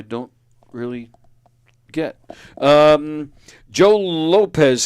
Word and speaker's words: Lopez: really get um Joe Lopez says hey hey Mark oh cool cool that's one of your friends I guess he pronounces it Lopes oh sorry Joe yeah sorry Joe Lop sorry about that yeah